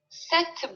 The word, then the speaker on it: cette: Cette. C'est la même prononciation.